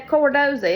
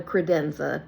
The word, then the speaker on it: credenza: said the what and he said the cordoza and that called a a cordoza no no it's not it's called a credenza but thank you thank